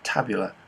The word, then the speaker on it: tabula: backgammon also known today is pronounced roughly as tabula meaning table or board game i will